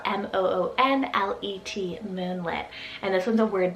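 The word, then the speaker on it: Moonlet: to it then we have moonlit spelt m-o-o-n-l-e-t moonlit and this one's a word name meaning the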